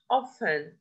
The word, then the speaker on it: often: Island, here, often, often, we write T but we don't pronounce it.